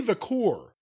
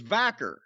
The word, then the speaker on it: Vaquer: it's kind of fascinating Stephanie vur if I am pronouncing her name correctly I think it's vaker well she just appeared